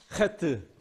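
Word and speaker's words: חית: 해트. 해트. 자, 따라해보세요. 해트. 이상하지? 귀가 이상한가? 하트. 예. 알겠습니다. 자, 그래서 하트인데 사실은 키역 발음에 가까워요. 히읗과 키역의 네, 중간 정도 이쯤 어디 돌고 있는데 이제 허다 허다는 거 허.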